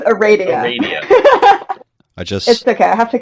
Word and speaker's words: Aradia: to say my name it's just like Arabian Nights Arabia all right we're actually